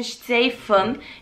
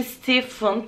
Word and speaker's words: Stefan: Almanlar için Steifen, İngilizler için Stephen, Türkler için Stefan diye okuduğumuz yazarımızın, ben çok seviyorum kendisini, Stephen Zweig diyorum ya da Steifen Zweig fark etmez.